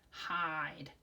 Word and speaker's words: hide: the word hid, but then that silent magical E at the end changes the way we say the I sound. So instead of hid, it becomes hide.